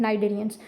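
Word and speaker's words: Cnidarians: अब वो कहते हैं नाइररियन जिसमें बेटा एक तो आपने ख्याल करना है सी साइलेंट है नाइडेरियंस।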